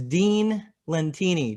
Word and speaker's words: Dean Lentini: His name is Dean Lentini. Do I have your name right? Did You I nailed pronounce it, it right?